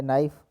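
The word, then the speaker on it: knife: दूसरा बी में है नाइफ तो के यहां है सी में कॉम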